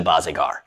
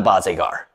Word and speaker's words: Barzegar: that teach you the bazigar it's not the boss agar trust me like it's